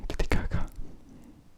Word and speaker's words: Titicaca: to Puno in the Lac Titicaca, which is the real pronunciation, Titicaca, which means tiger and rock, I think, because it's the form of the lake, something like that.